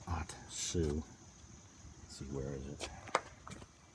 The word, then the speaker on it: Ohtsu: are producing this with their off-brand atsu it's pronounced atsu let's see where is it and it doesn't